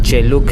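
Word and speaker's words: Celuk: एक चीज़ मेरे को समझ आई है बालिनीज़ लैंग्वेज के, उसमें जो सी है उसको च ऐसा प्रोनाउंस करते हैं। जैसे कि अभी चेलुक है और चेकिंग राइस टेरेस है और केचक डांस है।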